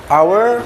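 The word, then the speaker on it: hour: Our spell H O U R.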